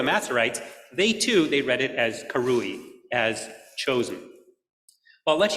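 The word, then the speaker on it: קרואי: But right next to it is the way the Masoretes told us to pronounce that word, to pronounce it karui, which means they were called.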